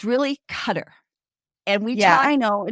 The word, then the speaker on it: Qatar: cutter uh representatives and we asked them now how do you pronounce it for sure because um we know as you as us people we always have said Qatar but just so if you hear cutter just so you know cutter and qar are the